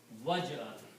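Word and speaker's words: واجعل: Then if you put waw before that, which means and, then you do not pronounce alif, and it becomes waj'al.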